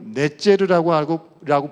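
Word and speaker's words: נֵצֶר: 한 가지의 가지라는 말이 원어인 히브리어로 넷제르라고 부르는 그런 발음입니다.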